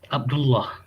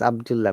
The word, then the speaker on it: Abdullah: Similarly, if your name is, how do you pronounce it now? mm, Abdullah. Okay, in Arabic name it is Abdullah, but in English it will not be said as Abdullah.